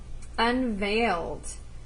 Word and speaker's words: unveiled: that means deeply loved unveiled you know the word is spelled kind of differently um than how we say it veil is v-e-i-l so to unveil means